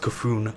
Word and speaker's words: C'Thun: by the way I've got the message it's pronounced c'thun naka Fong thank you guys for wearing that